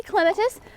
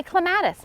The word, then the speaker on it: clematis: clematis some people say clematis some people say clematis it's one of those things we don't need pronunciation police out there in the Plant World people if you say clematis great if you say clematis